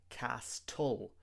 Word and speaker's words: castle: Lots of students say castle, but the t is also silent in this word. We have to say castle.